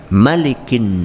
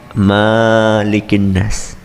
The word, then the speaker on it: Maliki: Malikin nas. Malikin nas, cara membacanya cuma satu saja. Maliki, pendek. Tidak malikin nas.